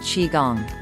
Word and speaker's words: qigong: as the mother of Chinese healing and it's pronounced Qi Gong it combines meditation dance movement and breathing techniques